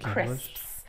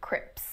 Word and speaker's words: crisps: you that one uh crisps is a notoriously difficult word for learners of english it's the oh i was like at the end crisps you'll find a lot of people mispronouncing them as crips crips that's a that's a